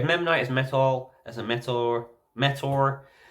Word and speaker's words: Memnite: We have Memnite as Metal, as a Metor. Even though it says Metal, you pronounce it Metor.